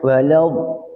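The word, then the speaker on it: وَلَد: Nah, tapi kalau do itu jangan sampai kita walad wal wad apalagi sampai kembungnya geter. Wal. Nah, ini yang kata para ulama ini salah pengucapan. Seolah-olah kita mencampur dua tanda, satu fathah, satu damah. Padahal huruf do itu diucapkan dengan fatah atau domah? Fatah. Fatah. Maka tidak boleh dia dimonyongkan.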